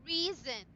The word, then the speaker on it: reason: you read it One as syllable. reason.